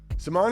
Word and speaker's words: Simone: My guest this week is Simon Key. Here in the States, we would most likely pronounce it Simone, but I learned we've been doing it wrong.